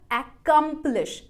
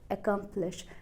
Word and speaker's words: accomplish: तो अब मैंने इसे प्रोनाउंस किया accomplish, accomplish, accomplish, ना कि accomplish।